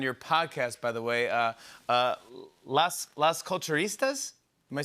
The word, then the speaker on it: Las Culturistas: "Las Culturistas"?